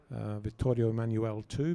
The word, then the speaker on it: Vittorio Emanuele II: Obviously in Italy, outside a significant building, Vittorio Emanuele II building.